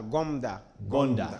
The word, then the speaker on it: Gomda: pronouncing his names correctly, because Goda has an M somewhere before the DA. If it was here in Uganda, it would be Gogonda, but I would love to get the correct pronunciation. Muhammad, yeah, just help us with the correct pronunciation of your names, especially the second. Yeah, Gomda. Gomda, yes.